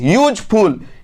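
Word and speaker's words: useful: ठीक है, तो ये जो स्टार्ट हो रहा है इसका जो प्रोनाउंसिएशन स्टार्ट हो रहा है यू यानी यौ से, और यौ किसके खानदान में आता है? क ख ग। तो यू देख के फट से एन मत लगाइएगा।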